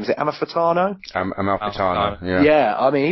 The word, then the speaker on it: Amalfitano: But I mean, I'm going to sound silly trying to pronounce his name. Is it Amalfitano? Amalfitano, yeah.